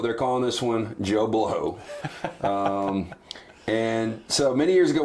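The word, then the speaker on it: Bleau: And he would say Joe, and he would spell it B-L-E-A-U. Love it. But it would be Joe Blow. So weeks would go by, they would start getting mail addressed to Mr. Joe Blue, and it was an inside joke ever since,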